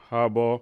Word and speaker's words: Harbaugh: Harbaugh.